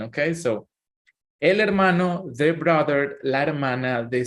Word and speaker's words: hermano: Then we have el hermano. This is the brother, and la hermana. This is the sister. Something important in our pronunciation, guys, and remember that the letter H is silent in Spanish, but it is important